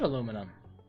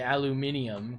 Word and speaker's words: aluminum: really do that aluminum yes I said I said aluminum you heard me I I didn't say aluminium cuz that would be a bit too many syllables there platinum platinum is it